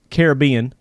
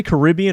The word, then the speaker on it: Caribbean: I went down to the Caribbean. Do you say Caribbean or Caribbean? How do you say it? I say Caribbean. Okay. I've heard it either way. I guess it's good either way.